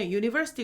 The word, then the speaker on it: university: 그래서 university 대학이라고 하는 university 같은 경우에는 U로 시작했지만 발음이 어때요? U예요, U. U는 모음 소리가 아니거든요. 그래서 a university라고 하게 되고요.